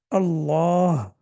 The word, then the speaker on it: الله: When we normally pronounce the word Allah, we pronounce it heavy. The lam is heavy. For example, we say Allah. But when we have kasra before it, then we pronounce it light.